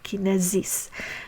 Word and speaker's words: kinesis: regarding the suffix Kinesis so the S is pronounced as a z sound so Kinesis so here are two